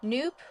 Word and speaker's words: nupp: manufactured via hand knitting nope rhymes with soup I personally was pronouncing it knp is a noop it's